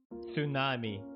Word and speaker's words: tsunami: i must hold myself tsunami t is silent honest h is silent